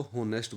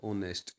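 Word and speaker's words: honest: Pronunciation देखेंगे हम, तो हम क्लास में ज़ोर ज़ोर से इसको होनेस्ट बोलते हैं, लेकिन इसका जो सही प्रोनाउंसिएशन है वो है ओनेस्ट। क्या है? ओनेस्ट। बोल के देखिए, ओनेस्ट। तो ओ की साउंड आती है इसमें, तो इसमें हम लिख देंगे एन।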